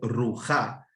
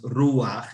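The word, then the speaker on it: רוח: Eso no se lee como se debiera hacer ruja, sino es ruaj, igual que noaj.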